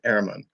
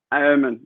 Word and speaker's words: Ehrmann: Well, in the States Erhmann. we say Erhmann, but the German pronunciation is Erhmann. Erhmann.